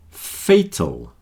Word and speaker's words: fatal: Fatal, fatal. Now notice the sound of the letter A's here. There are two letter A's and they're both different.